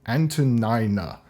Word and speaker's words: Antonina: the Imperial Court, rally reinforcements alongside the determined Antonina. Yes, I am pronouncing that correct.